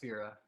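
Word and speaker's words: Fera: Fira.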